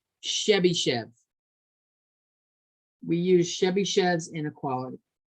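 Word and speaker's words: Chebyshev: write it down that's the guy's name it's pronounced chevy chev we use chevy chev's inequality and chebychev's inequality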